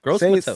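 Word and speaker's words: Gross-Matos: It doesn't phonetically doesn't look like that. Gross Matos. I got it now. Matos. There it is. Gross Matos.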